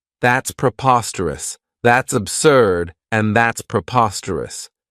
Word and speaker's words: preposterous: This adjective has 4 syllables, and the stress is on that second syllable, preposterous. Remember that OS has that schwa, that sound.